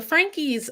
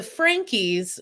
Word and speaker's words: Franke: first place so the Frankie are anank yeah they pronounce it Frankie I thought it was Frank too until I started hearing